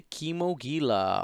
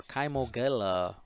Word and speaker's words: Kimogila: Then we get to the Kimogila or Kimogila or Kaimogila, however you want to pronounce it. I think it's Kimogila personally. Like Gila monsters?